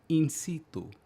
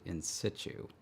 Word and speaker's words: in situ: In C2, if you prefer the original pronunciation, incitu, right? Because it's from Latin. At no point in time was it in situ.